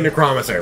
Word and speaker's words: Necromancer: We say Necromancer, because that's actually how you pronounce it.